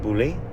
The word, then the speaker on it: Beaulieu: In England, we have a town with the same name. We say Boulay.